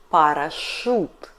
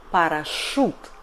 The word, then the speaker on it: парашют: But in some foreign words after Ж, Ш, Ц we read Ю like [у]. For example, парашют . We don't pronunciate in russian, no. .